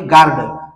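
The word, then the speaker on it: guard: घ्या आणि त्याच्यानंतर आहे गार्ड गार्ड हा शब्द वाचन करत असताना य लेटर सायलेंट होणार आहे कारण का होणार आहे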